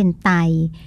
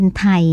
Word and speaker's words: ไท: ภาษา อังกฤษ นะ คะ ซึ่ง บาง คน เนี่ย ก็ ออก เสียง เป็น ไต แต่ ว่า เอ่อ นัก ภาษาศาสตร์ เรา ก็ มา คุย กัน แล้ว เรา ก็ ไม่ ชอบ นะ คะ เพราะ ว่า ตัว ดิฉัน เอง ก็ ไม่ ชอบ เพราะ มัน เหมือน ตับ ไต ไส้ พุง คำ ว่า ไต เนี่ย ค่ะ มัน ไต ๆ ก็ ออก เสียง เป็น ไทย เนี่ย จะ ดี กว่า นะ คะ เรา ก็ ใช้